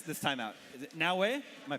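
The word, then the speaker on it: Naoe: Is it Naue? Am I pronouncing that correctly? Yep, Naue.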